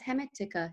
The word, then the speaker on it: Hermetica: No, it's Hermetica.